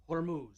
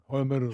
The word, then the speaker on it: Hormuz: Um and I never know if I'm pronouncing this right. The straight of Hormuz. Hormuz Hormuz Hormuz Hormuz Hormuz Hormuz Hormuz Hormuz Hormuz The Straight of Hormuz.